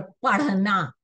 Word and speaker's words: पढ़ना: पड़ा पढ़ना नहीं पढ़ना आप देखिए मेरे उच्चारण में भी आपको फर्क महसूस होगा गिर पड़ा और पढ़ना पढ़ना चंद्रबिंदु और अनुस्वार